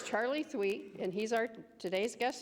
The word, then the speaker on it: Thweatt: Okay, first of all, I had to ask him how to pronounce his last name. So it's Charley Thweatt, and he's our today's guest speaker, and he's a musician.